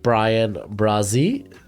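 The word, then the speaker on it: Bryan Bresee: add to that defense so i think uh brian brazzy let me make sure i got that name right so i go to my pronunciations brian brazie there we go i think would be a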